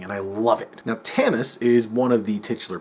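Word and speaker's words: Tamas: and the field Marshall tamis I I think I'm pronouncing that right it's t m a s so I could be wrong he leads a rebell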